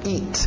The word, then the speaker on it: eat: To eat, aquele T bem nítida. Eat, para no T, eat. Isso, EA, som de I, to eat.